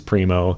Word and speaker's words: Primo: So if you think it's called a Primo, I'm sorry, it is Primo. And since it's someone's name and it doesn't translate, I would stick to how his name is actually pronounced, if ever possible.